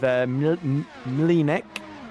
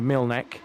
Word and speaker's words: Mlinek: I've been told to correct my pronunciation of Mlinek instead of Milnek. Sorry, that's just me trying to anglicize his name.